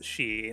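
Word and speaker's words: sidhe: now looks like banshee it's spelled s-i-d-h-e nobody's gonna understand i mean technically you technically you pronounce s-i-d-h-e as she so yeah uh okay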